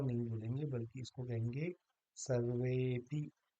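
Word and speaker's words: सर्वेऽपि: जैसे यहाँ पर आया है, तो हम इसको अ नहीं बोलेंगे, बल्कि इसको कहेंगे सर्वेपि, या कोऽर्थः, ना कि को अर्थः, ये नहीं कहेंगे, बल्कि कहेंगे कोऽर्थः।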